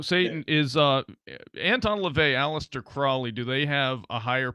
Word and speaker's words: Crowley: first of all, it's actually Crowley.